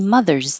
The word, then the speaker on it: Mother's: Mother's Day Mother's Day the S is a z happy Mother's Day Memorial Day the